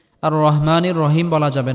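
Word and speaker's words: الرحيم: রহ আর রহমানির রাহিম এখানেও বড়হা আর রহমানির রহিম বলা যাবে না আর রহমানির রহিম বললে নামাজ হবে না আর রহমানির রাহিম আর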